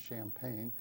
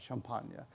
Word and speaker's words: Champagne: a part of Champagne, which we Americans pronounce Champagne. The French are just a little classier about Champagne, where an awful lot of fighting had taken place, principally in 1915.